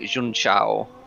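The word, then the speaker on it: Junção: butcher um but yeah it's something like june chao um j-u-n-c-a-o so yeah it's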